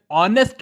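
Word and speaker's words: honest: इसकी वजह यह है क्योंकि मैंने बुलाया ML ऑनेस्ट मैन ऑनेस्ट यह जो नेक्स्ट शब्द है यह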